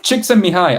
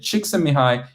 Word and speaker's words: Csikszentmihalyi: Is there a game to learn pronunciation of gamification gurus? Csikszentmihalyi, I got that one. I've practiced it quite a bit. Csikszentmihalyi, Mihai Csikszentmihalyi is the name of the one that Altu was mentioning in the chat.